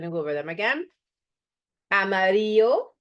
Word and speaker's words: amarillo: Amarillo, so the double L gets a Y sound, right?